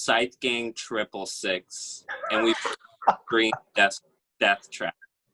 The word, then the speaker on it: Scythe Gang 666: head out it's pronounced scythe gang triple six and we've green death trap sight gang triple six not six six six triple six yeah also